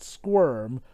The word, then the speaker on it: SCWRM: us an abbreviation and one that of course sounds like the word squirm which is why our